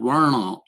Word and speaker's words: varna: among the dalit so so varna this is what the system in india theocratically is called verna is the proper pronunciation it literally means colors